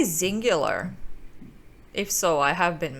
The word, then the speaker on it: Xyngular: part of the field development team here at zingular and I am here with Taylor if you